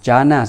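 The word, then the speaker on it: jnana: They pronounce similar, but they're not the same, okay? Jhana spelled like this, J-H-A-N-A, but jhana, J-N-A-N-A. Okay?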